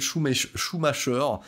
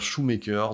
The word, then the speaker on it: Schumacher: Voilà, donc The Kief sera plus ou moins un acteur régulier de Joel Schumacher, que certains prononcent Joel Schumacher, donc moi j'ai décidé de dire Shoemaker, donc le Choum Choum, si vous voyez ce que je veux dire.